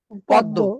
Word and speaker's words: পদ্ম: আচ্ছা আমরা কি এটাকে পদ্ব উচ্চারণ করি নাকি পদ্ম উচ্চারণ করি? পদ্ব।